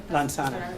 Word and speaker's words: Lansanah: How I pronounce? Lansanah? Lansanah.